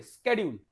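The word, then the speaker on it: schedule: चलिए आगे देखते हैं, स्केड्यूल, देखो इसको बोलते भी बहुत सारे लोग, इसका प्रोनाउंसिएशन देखो, स्केड्यूल बोलते हैं इसको। क्या बोलते हैं? स्केड्यूल, शेड्यूल नहीं, स्केड्यूल। कैसे याद करना है इसको?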